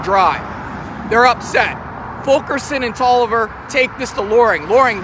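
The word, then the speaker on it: Taliaferro: 37th uh virginia and a guy named william toliver it's spelled talia pharaoh but it's pronounced hollover these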